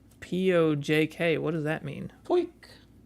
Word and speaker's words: POJK: Poik. It's like a weird way to pronounce poke. Poik. Wouldn't it be with an I? No, because he's Canadian. Poik.